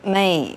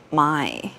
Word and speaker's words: Mei: It's pronounced Mei, not Mai.